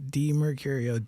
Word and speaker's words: DiMercurio: It's D. So D E Murio. D Mercurio. D Mercurio.